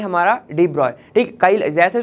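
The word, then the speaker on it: de Broglie: Start करते हैं डी ब्रॉगली से। चलिए, हम बात स्टार्ट करने वाले हैं हमारा डी ब्रॉय। ठीक, कई जैसे जो इसका प्रोनाउंसिएशन इन साइंटिस्ट का डी ब्रॉय होता है, कई लोग इसको ब्रॉगली बोलते हैं और कई लोग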